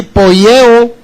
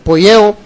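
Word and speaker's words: ποιέω: es una palabra que se se puede pronunciar así poeo p o i e o poyo y significa cuando los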